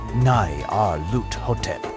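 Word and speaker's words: Nyarlathotep: the side mean the director of the museum pronounced it as n r lot hotep hieroglyphs are alien to me but I know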